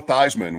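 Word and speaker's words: Theismann: seen them come on did you know that Joe thyman was thian in college no wow that's a name we're we're on to a new thing here of guys changing the pronunciation of their name changed his name to win the Heisman didn't and that up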